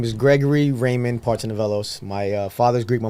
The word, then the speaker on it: Partsinevelos: is so my full name is Gregory Raymond Parton nelos my uh father's Greek my mother's Puerto Rican